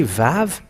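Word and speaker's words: ו: And it's an Hebrew alphabet in 100 Aramean in minus 1500, and it is Vav, how they read it, not W or Wa or Wu, because some people say the Wu, and that where the Yahoo comes from.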